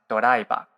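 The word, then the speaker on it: ドライバー: Yeah, doraiba, but in Japanese, it is pronounced doraiba.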